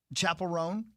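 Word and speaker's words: Chappell Roan: Chapel Rome.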